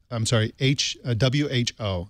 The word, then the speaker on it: Hu: That's W-H-O. So Who as in who done it, even though her last name is spelled H-U.